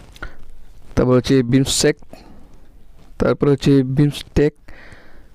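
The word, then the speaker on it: BIMSTEC: সদস্য হচ্ছে আফগানিস্তান তারপর হচ্ছে বিমসেক তারপর হচ্ছে বিমস্টেক উচ্চারণটা এরকমই হবে এর সদস্য সংখ্যা হচ্ছে সাতজন লট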